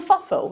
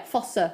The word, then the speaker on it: fossa: Popliteal fossil. That'll do. Fossa. Was it? Yeah, fossa, not fossil.